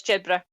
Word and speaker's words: Jedburgh: It says, yeah, it's Jedburgh. Jedburgh. Oh, so it's the same way as Edinburgh.